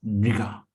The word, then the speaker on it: नृग: नृगा। ये नृगा मतलब थोड़ा मुश्किल है प्रोनाउंस करना, जैसे कृष्ण है, ये नृगा है।